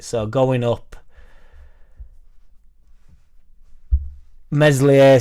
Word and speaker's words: Meslier: right so going up meslier silent S I honestly think and